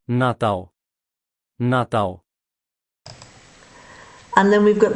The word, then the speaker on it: Natal: So in European Portuguese, we say Natal. In the Brazilian Portuguese, they're going to pronounce that L at the end slightly different. So it's going to be more of a W at the end rather than an L.